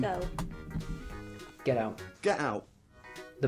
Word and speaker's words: Moscow: Moscow. Moscow? Moscow. Moscow. See, Americans say Moscow.